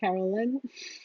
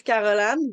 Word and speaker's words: Caroline: you uh did you am I pronouncing your name correctly Caroline or carollyn her name is Caroline but she doesn't speak